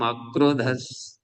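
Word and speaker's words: अक्रोधः: तो उच्चारण में हमें ध्यान देते रहना है कि म में अ घुला हुआ है, अक्रोध है, क्रोध नहीं है शब्द।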